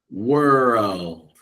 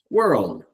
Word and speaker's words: world: Then we put them together, world. And a little quicker with it, world. In this word, there's no vowel letter in here, but we do make this vowel sound, So we're making sounds that aren't actually spelled.